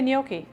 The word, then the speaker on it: gnocchi: gnocchi I don't know how do other people say gnocchi I just figured that g is silent I always said whatever